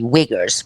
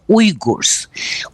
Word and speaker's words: Uyghurs: They said, let's call it Uyghuristan, or in English, some people say Uyghurs, but actually the correct pronunciation is Uyghurs.